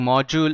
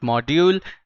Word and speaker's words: module: And the reading module, the pronunciation for this word is reading module, it's not module, okay, is 47 as you can see over here.